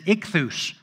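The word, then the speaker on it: ichthys: in the greek language is ichthus that's the pronunciation of fish and the spelling in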